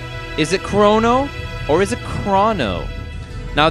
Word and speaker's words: Chrono: more than the alternative so here it is in Japanese KU roll no his name is chrono clear as crystal I've asked my partner